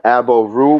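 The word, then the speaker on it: Aboru: I'm Abo Ru, but the way it's spelled is AB_O_RU.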